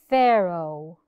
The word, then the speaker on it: Pharaoh: Pharaoh. Pharaoh. We pronounced it as F. نطقنا الـ PH كأنها F. مش بنكتب F، بنكتبها PH.